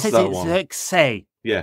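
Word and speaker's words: Zirkzee: Xerxes. Yeah. The way he says the Z is a sort of say. Yeah. If you listen to him, you can find him saying his own name.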